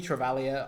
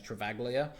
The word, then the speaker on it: Travaglia: plays out um Toby travalia I I did see someone in the com comments I did say it's travaglia apparently the g is silent so thank you for